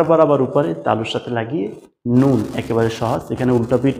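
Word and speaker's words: نون: হরফ 29 টার ভিতরে দুইটা হরফ আছে যে দুইটার উচ্চারণ নাক দিয়ে হয় নাক দিয়ে উচ্চারিত হয় আপনি যদি নাক চেপে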